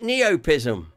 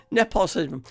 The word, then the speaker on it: nepotism: Is it neopism? Nepotism. That word there. Yeah, you've got it right.